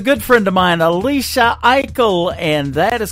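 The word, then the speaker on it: Aichelle: she is a good friend of mine, Alicia Eichel, and that is called Unbroken. That is the title track of her latest EP. It is fantastic. Go check her out. Alicia Eichel.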